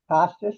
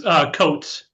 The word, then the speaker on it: Coates: If not, tonight's speaker is Costas. Is that how you pronounce it? It's Coates. Coates.